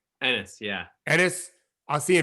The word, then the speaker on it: Enes: Enes, yeah.